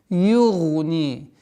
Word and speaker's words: يُغْنِي: Югни. Югни. Гайн твердый. Югни. Ударение кеср в размере двух огласовок.